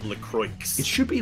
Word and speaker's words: LaCroix: bottled Lacroix dance lacrosse it's actually pretty much Lacroix as much as I hate to admit it it's actually pronounced Lacroix it should be like